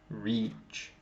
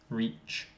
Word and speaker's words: reach: need to do is we need to really put the e reach great yeah exactly reach reach that's it reach